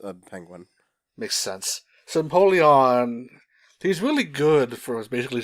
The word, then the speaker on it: Empoleon: Wow, I've been saying it wrong this whole time. Fire Eevee is Flareon, and don't worry, we'll talk about Eevees later. Hold that thought. Yeah, Empoleon. So Empoleon. Think of it like Napoleon, except a penguin.